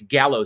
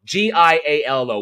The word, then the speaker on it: giallo: So it's almost like trying to take a different frame of reference on the horror film, which is what makes giallo so interesting and so special.